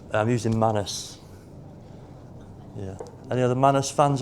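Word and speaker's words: Manus: I've heard it pronounced minus, but sounds I don't like that.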